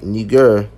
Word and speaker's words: Niger: Or Niger, properly pronounced Niger because they speak French there, right?